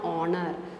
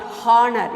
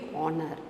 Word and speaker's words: honor: to give stress on honor not horner you should never say h it should be honor on the stress on